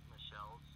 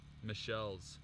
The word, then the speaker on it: Michiels: A lot of people mispronounce it, but it's Michelle's. It's actually a European. Michelle's. Michelle's.